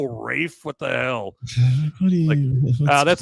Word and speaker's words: Ralph: Your name is spelled Ralph and you go Rafe.